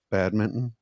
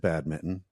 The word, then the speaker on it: badminton: like another say that say that word again badminton okay yeah I said it wrong I said it with an American accent I said bad Mitten yeah yeah I said it like a bad